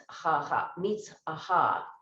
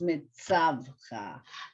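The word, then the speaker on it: מְצַוְּךָ: Mitzvaha. Just think of the word mitzvah. Mitzvaha. Right. Mitzvaha. It's actually pronounced mitzavha.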